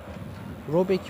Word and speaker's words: Robert: Robert, bu arada adam ismi Robert diye okunmuyor biliyorum ama ben Robert demeyi sevdiğim için Robert diyeceğim. Robek mi ne, öyle bir şey okunuyordu.